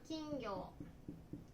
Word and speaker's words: 金魚: Cá vàng được viết là "金魚" và đọc là "kingyo."